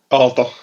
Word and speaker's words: Aalto: Aalto. Aalto? Okay. Aalto, yeah.